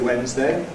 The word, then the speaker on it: Wednesday: You can say ‘Sunday’ /ˈsʌndeɪ/, ‘Monday’ /ˈmʌndeɪ/, ‘Tuesday’ /ˈtjuːzdeɪ/, ‘Wednesday’ /ˈwenzdeɪ/, or you can say ‘Sunday’ /ˈsʌndi/, ‘Monday’ /ˈmʌndi/, ‘Tuesday’ /ˈtjuːzdi/, ‘Wednesday’ /ˈwenzdi/.